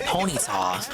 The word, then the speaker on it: Ponyta: The show always pronounced it as Ponyta. And some divorce, in groups and stuff. I mean, I've always understood it's supposed to be a pun on Bonita, but the show always said Ponyta.